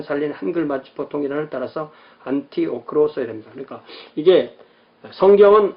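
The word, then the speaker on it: Antioch: 그러나 일반 학문적인 글에서는 통섭을 용이하게 하기 위해서 원어의 발음 최대한 살린 한글 맞춤법 통일안을 따라서 안티오크로 써야 됩니다. 그러니까 이게 성경은 안디옥, 영어는 애니악.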